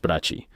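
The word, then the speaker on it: Brakke: Brack, que por cierto antes dije Brach, pero es Brachi. Disculpa, lo siento. Si vieras cómo se escribe lo entenderías.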